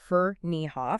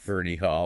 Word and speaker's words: Ferneyhough: And for anyone who doesn't know, that's pronounced Ferneyhough. Ferneyhough.